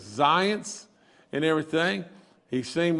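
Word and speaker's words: Zients: is jeff and and i think you you pronounce his last name as zions and everything he seemed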